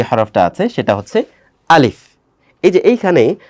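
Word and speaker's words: ألف: হরফটা আছে সেটা হচ্ছে আলিফ এইযে এইখানে অনেকে একটু কঠিন করে বলার চেষ্টা করে কিন্তু আসলে কঠিন করার দরকার নেই আলিফ এটা জাস্ট ওয়ান কাইন্ড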